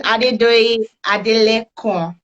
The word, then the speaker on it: Adedoyin Adelekan: Okay, so your name is Adedoyin Adelekan. Did I pronounce it well?